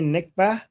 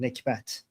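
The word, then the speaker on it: نكبة: We don't call it, so in Arabic they say nikbah, but we Iranians pronounce the t at the end, nikbat.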